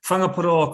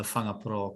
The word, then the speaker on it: Whangaparaoa: zealand and maori so whangapura college is probably quite hard for you to pronounce because wh the wh is more like an if sound and it's means bay